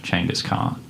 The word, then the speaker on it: Genghis Khan: on Wikipedia is that in ancient Mongol the letters g e were pronounced CH so the famous warlord is actually called Changas car and Simon immediately starts